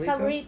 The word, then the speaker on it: paborito: For me, it's similar. Like favorite, paborito. And we use P. We don't usually have F. So, yeah. Okay. Yeah, sometimes you hear us. So paborito is really favorito? Paborito. But do you spell with the F? P. P, okay. Yeah. But our sound, sometimes we say, oh, why you, instead of finish, you say finish? Because Cebuano, we use P instead of F.